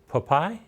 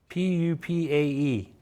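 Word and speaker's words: pupae: So these are Thailand unique chocolate-covered silkworm papaye. Did I say that right? How do Papaye? you spell it? P-U-P-A-E.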